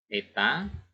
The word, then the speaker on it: eta: Baik, kita tulis PP-nya 100 watt, PS-nya 80 watt, yang ditanya adalah eta, ini membacanya eta ya, efisiensi.